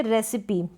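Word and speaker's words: recipe: और नेक्स्ट यहाँ पर आप देखेंगे रेसिपी, तो यहाँ पर भी रेसिपी, इस ई को प्रोनाउंस किया जा रहा है बड़ी ई के रूप में।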